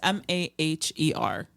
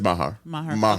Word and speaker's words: Maher: The architect that is most prominent in that area is George Washington, and my instinct is to pronounce his last name as Maher, but it's Maher. Yeah, that's Maher.